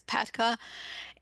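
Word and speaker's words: PATCA: It really insisted on spelling out P-A-T-C-A instead of just pronouncing it as Patka.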